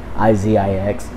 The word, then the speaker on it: Izix: pronounce my name because it's spelled I-Z-I-X, which is just Izix.